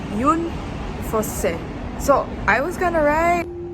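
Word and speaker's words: Jon Fosse: The correct pronunciation is Yun Fosse.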